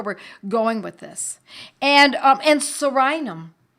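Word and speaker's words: Psorinum: And sorinum. Sorinum is spelled P-S-O-R-I-N-U-M, P like in pneumonia.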